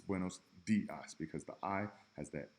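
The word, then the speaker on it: buenos días: that contain the letter i super simple like buenos dias it's not windows diocese buenos dias because the AI has that e sound buenos dias d Part D letter o is pronounced o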